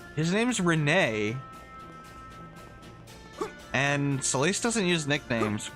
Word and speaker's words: Rene: Did you just call Renee Ren? Did I hear that right? Because that's not right. His name's Renee.